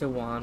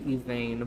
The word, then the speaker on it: Yvain: And yes, it's not pronounced Iwan, it should be Yvain, because in Old English, the W is pronounced like two V's.